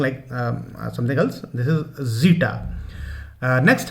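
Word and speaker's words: Zeta: Next है जीटा। The word is जीटा, इट्स नॉट जेटा और something like something else, this is जीटा।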